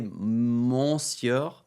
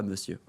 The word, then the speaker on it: monsieur: Ouais et et je disais monciur pendant une décennie. Monur, monur, pas monsieur.